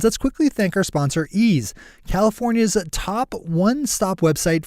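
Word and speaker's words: Eaze: out in headlines let's quickly thank our sponsor ease California's a top one-stop website for legal marijuana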